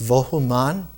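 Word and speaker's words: Vohu Manah: In ancient Irani, in Zarathustra, the name is pronounced Vohuman, which means good mind.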